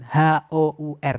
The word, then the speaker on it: hour: H O U R. Tapi H-nya enggak dibaca ya. Bacanya hour.